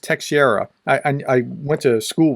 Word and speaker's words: Teixeira: perhaps 21 year old Jack Teixeira I believe that's pronounced te Sierra I I went to